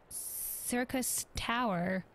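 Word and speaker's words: Syrcus Tower: In like manner, the entryway into the principal spire, Circus Tower, sure, but spelled with an S, the Allagan's Circus, whatever,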